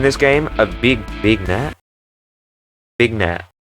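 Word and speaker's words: vignette: Big net. How do you pronounce that? Vinet.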